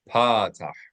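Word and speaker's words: פתח: So the line underneath a letter, a flat line, is called patah. Accent the first syllable.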